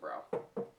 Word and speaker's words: Brau: company san jose california it doesn't have the accent so it's pronouncing it bro and they're both darker